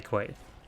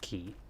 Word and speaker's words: quay: It's kind of weird that you pronounce that word as key. I think in any case it's key. Now I'm starting to doubt myself. I think you can say it both ways. People will understand what you mean when you say quay. But it is probably pronounced key, which is weird and stupid.